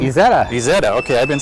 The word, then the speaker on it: Isetta: And thank you for the use of the What's the pronunciation? Isetta. Isetta.